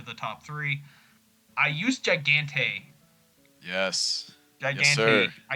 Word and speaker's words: Gigante: I like to say Gigante. Gigante. Okay. Gigante. Got it. Got it. He's won his last 2 starts. He's won over the Lone Star Surface. I thought Gigante.